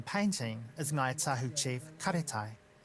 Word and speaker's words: Karetai: Karetai is because of the ate, karetai, the phonetic sound.